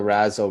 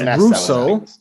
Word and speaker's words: Russo: russell brothers brothers yeah i said the razzle brothers yeah so it's russo it's how it's pronounced they're a big deal